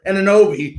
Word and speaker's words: Anunoby: You got, like you said, OG, I never pronounce it, Anunoby.